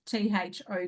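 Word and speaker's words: Thoth: do you pronounce th t h o t h the ancient Egyptian god tho is pronounced T HT rhyming with loath to or t h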